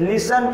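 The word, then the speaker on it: listen: improve हो जाता है जैसे देखिए मिशन इसे लिसन पढ़ा जाता है लेकिन यहां पर इस अकाउंट है अगर टिका उच्चारण किया जाए तो लिस्ट होगा लेकिन हम इसको लिस्ट ना पढ़कर निशान पड़ते हैं यहां पर ठीक है साइलेंट है वैसे ही टॉप है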